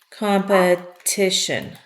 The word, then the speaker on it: competition: on this e but if I say competition the accent is on this I notice also that I'm no longer making this T sound like a d competition when the syllable gets to be accented then I say the T competition not competition competition the verb